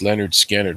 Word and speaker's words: Lynyrd Skynyrd: littered Skynyrd and the album's called pronounced Leonard Skynyrd which I'm sure that